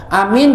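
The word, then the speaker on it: آمين: dipisah tadi terdengar Sapta Amin gimana cara bacanya yang normal aja yang paling fase yang abstrak paling khasnya dan berharap hamzahnya panjang terus minnya panjang hah Amin itu yang paling fasih yaitu aja udah cakep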